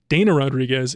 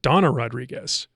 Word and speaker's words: Dana Rodriguez: pronunciation of her name it's not Dana Rodriguez it's Donna Rodriguez that's how she says it and I'm so